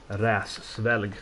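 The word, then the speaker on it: Hræsvelgr: And it's pronounced Räsvelg, I said.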